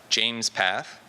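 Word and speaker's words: JMESPath: James is the creator of a tool called James path which I learned two things about first it's pronounced James path and that means he named it after himself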